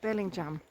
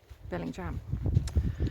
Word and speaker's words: Bellingham: And today's aim is, well, it's written Bellingham, but actually apparently they pronounce it Bellingham. Bellingham. So we're going to Bellingham.